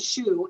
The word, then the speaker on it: Schu: my name is Shauna Shu and it's spelled s a w n a and the last name even though it sounds like the one on your foot is spelled s c hu and everything I do